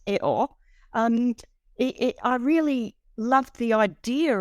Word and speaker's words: EO: And in the film, as he is pronounced Eo, I really loved the idea of seeing the